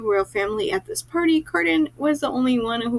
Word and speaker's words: Cardan: Then the sixth prince, Prince Carden shows up. And I'm not going to lie, his name will probably be accidentally pronounced as Cardigan at least once a chapter.